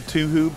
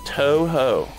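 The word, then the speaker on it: Touhou: It is Toho. Like toe and then ho.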